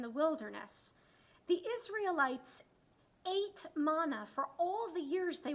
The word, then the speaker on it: manna: called what they gathered mana or manna as some people pronounce it and god instructed